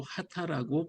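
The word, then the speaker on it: 秦: 건 넘어가서 귀했던 사람인데 진이라는 문자를 쓰면서 일본어로 하다라고 발 발음을 하게 됩니다 고대 일본에서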